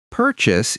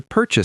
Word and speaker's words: purchase: Purchase is just a more formal word for buy. To purchase something means to buy it. The pronunciation is purchase. Purchase. Stress on the first syllable, per.